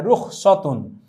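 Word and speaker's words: رخصة: লাইসেন্সকে আরবিতে বলা হয় রুখসতুন। উচ্চারণটি আমরা খেয়াল রাখলে আমরা ধরতে পারবো, রুখসতুন।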